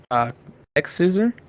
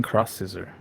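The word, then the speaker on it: X-Scissor: Yes, and first of all, it's officially named X Scissor? Yes. Okay. See, I've been saying it wrong. I've been saying Cross Scissor. Because you know how like sometimes X is cross.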